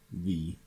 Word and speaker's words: VVVVVV: the 6 B's and it just pronounced V it is a 2d